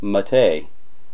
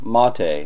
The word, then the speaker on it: MATE: have set up here in ubuntu matei or mattei let me correct myself there and pronounce that correctly so it's very easy